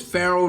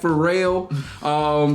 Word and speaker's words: Farrell: Well, number one on Facebook, Marcus Faces Farrell, Ferrell is Farrell, not Pharrell.